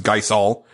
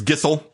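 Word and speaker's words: Gysahl: Final Fantasy games because I always thought it was geol but apparently it's gizle or at least that's how they say it on Final Fantasy 15 uh he says now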